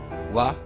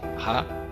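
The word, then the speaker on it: は: Wa é uma partícula que indica o tópico da oração, que em vez de ha nós pronunciamos wa.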